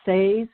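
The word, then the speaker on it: Seres: They are titled The Say's Race, which is spelled S-E-R-E-S, The Say's Race Agenda, and The Emerald Doorway, Book 1 of the Parallel Time Trilogy.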